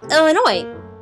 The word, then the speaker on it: Illinois: yes my name is Illinois and I need an airline ticket to um well Illinois mhm no the s is silent as the sun set